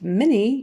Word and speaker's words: many: pronunciation of much and many much much and mini even though it's spelled m-a-n-y we typically say it more like an m-i-n-e-e so many many like minnie mouse um mini how many